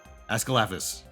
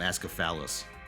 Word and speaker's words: Ascalaphus: ASCALAPHUS. I had to actually learn... I had to remember the syllables in his name. So I don't call him Ascaphalus.